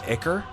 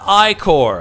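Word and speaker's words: ichor: then I I realized that it's actually not pronounced icker it's pronounced i-core as someone smarter than me told me it's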